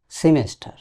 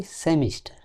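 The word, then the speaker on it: semester: সবচেয়ে বেশি ভুল হয় যেই বানানটির উচ্চারণ সেটি হচ্ছে সেমিস্টার। আমরা সম্ভবত 90% এর মানুষ বলি সেমিস্টার। সেমিস্টার বলতে কিছু তো নাই। টস সেমেস্ট। এই এসিটা রসকারী উচ্চারণ হবে। সেমেস্ট।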